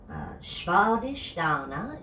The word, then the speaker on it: Svadhisthana: Svadhisthana is how you say the name of this. I hear it get butchered all the time, and I don't mean to sound preachy, but work on your Sanskrit. It's important. Shva is the first part. Sh, sh, sh, like sheep is the sound of that S.